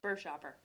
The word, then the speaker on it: Buerschaper: Bur Shopper. Chopper.